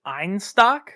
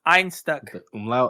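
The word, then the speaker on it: Einstök: I've always called it Ein stock so did I yeah but I learned today I learned today the o with the two dots above it is pronounced like an uh so it's Ein stuck yeah all right yep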